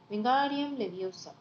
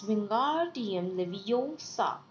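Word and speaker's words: Wingardium Leviosa: having much more luck wam leosa he shouted waving his long arms like a wind you're saying it wrong Harry heard her miny snap it's wingar TM leoa make a gar nice and long you do it then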